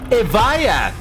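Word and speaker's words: Evija: I Will Never Shut Up AI Lady finally pronounced the name of this car, and she said Evaya. Now that finally puts to rest if it's pronounced Evia or Evaya.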